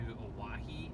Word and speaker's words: Owyhee: gonna be headed to Hawaii I think it's how it's pronounced it sounds a lot like Hawaii but it's so it's on